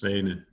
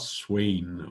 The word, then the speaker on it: Svane: So this is Adhiban against Svane, S-V-A-N-E, and it's pronounced like that, not Swain, or however people like to try to pronounce it.